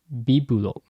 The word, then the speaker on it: Biblo: In Japanese, Bibulo. It could actually be either B or V sound, because Japanese syllable B can represent both B or V.